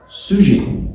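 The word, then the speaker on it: sujet: فاعل يعني سوجي، سوجي. طب ازاي؟ الاس مع حرف الاو، اللي احنا لسه واخدينه اسمه سو، سو. بعد كده جي هناك بالانجلش هنا اسمها جي، تبقى سوج، سوج، سوج. جميل. وخدنا حاجه اسمها ان الاو تي، حرف الاو تي، ان الاو والتي لما يجوا ورا بعض بيتنطقوا اي، تبقى سوجي، سوجي، سوجي.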